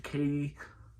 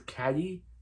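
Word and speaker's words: Cady: be the parent to Katie. They say her name is Caddy. They say her name is Katie, but C-A-D-Y, not C-A-T-Y. So I thought her name was Caddy, but they call her Katie for the rest of the film.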